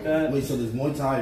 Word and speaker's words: Muay Thai: Wait, how do I pronounce it? Muay Thai? Muay Thai.